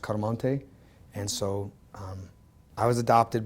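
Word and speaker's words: Chiaramonte: ch I AR mo NT e so actually pronounced car Montague and so I was adopted by my real father I mean by my stepfather dr.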